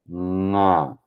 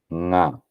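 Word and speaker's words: ङ: Okay, it's nasal resonance. Okay, nasal resonance, but the sound is still produced at the guttural level. That is the throat level. So it is nga, nga. Okay, nga. So when you pronounce nga, you are giving a nasal resonance, but the sound is still coming from the throat.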